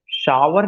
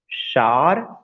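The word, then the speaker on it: shower: ऑल ऑफ यू, कि कभी भी प्रोनाउंसिएशन पावर नहीं कहना है, शावर नहीं कहना है, टावर नहीं कहना है, इन सबको आपको जो प्रोनाउंसिएशन कहना है, पार, शार, टार।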